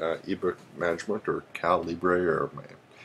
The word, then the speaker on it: Calibre: uh it's called Uh caliber uh ebook management or calibra or it should be pronounced caliber that's how it should be pronounced but I don't actually